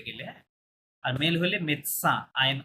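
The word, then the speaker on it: médecin: পারে এটা মেডিসিন হ্যাঁ এটা মেডিসিন না ফরাসিতে মেদসা মানে ডক্টর হ্যাঁ এটা হচ্ছে মেল ডক্টর যদি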